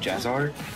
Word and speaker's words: JaZaR: state from uh how do you say it jazzar jazar yeah so it was crazy to start off